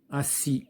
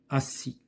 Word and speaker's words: assis: Puisqu'il se prononce Z, donc il reste à écrire assis.